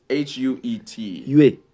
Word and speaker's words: Huet: It's Huet. Huet. If an H is at the start of a word in French, you don't pronounce it most of the times.